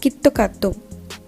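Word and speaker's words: キットカット: KitKat's Japanese pronunciation kitto katto, which is very similar to Japanese phrase kitto katsu, and which means you will surely win.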